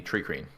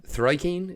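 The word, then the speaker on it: Thri-kreen: The Plasmoids and the Tricreen. Oh, Tricreen? Thrikeen is Thrikeen. Yeah, Thrikeen. Yeah. Tricreen, sorry. That's difficult for Irish people. Yeah. We're not fans of THs.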